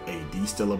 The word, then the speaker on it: Stella: timeline is called add Stellar some may call it A.D Stiller but I think it's pronounced as Stella and in this timeline